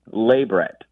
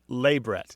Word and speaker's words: labret: let me practice it labret labret yeah stress on the first syllable La labret wow and